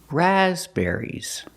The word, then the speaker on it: raspberries: on the third syllable there's only one stress it's on the first syllable raspberries the second syllable is